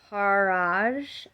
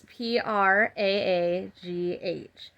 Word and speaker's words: Praagh: So it's Talking to Heaven, um, Doreen Virtue and James Van uh, Parage, I think is how I'm pronouncing that wrong. I'm pretty sure. It's Praagh. And they're mediumship cards, and that's what I do.